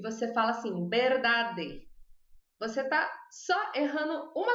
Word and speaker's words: verdad: Por exemplo, a palavra verdade, verdade, em espanhol é verdad, verdad. Ela escreve igual quase. A única diferença é que ela não tem a E final.